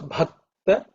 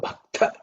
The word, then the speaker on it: bhakta: So bhakta, not bhakta.